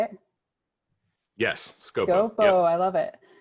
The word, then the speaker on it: Scopo: Yes, Scopo.